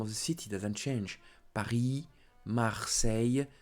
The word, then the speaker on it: Paris: Paris, Marseille, Strasbourg, Bordeaux. So, don't forget, do not pronounce the ending, the last letter. Don't say Paris. Don't say Strasbourg. Don't say Bordeaux. No, do not pronounce them.